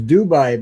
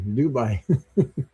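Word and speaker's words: Doubai: So, they it's it's you pronounce it the same same way.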